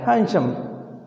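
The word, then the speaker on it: handsome: ध्यान रखना, ये हैंडसम नहीं, हैंडसम। हैंडसम बोलता है, डी इसका कैसे रहता है? Silent, हैंडसम।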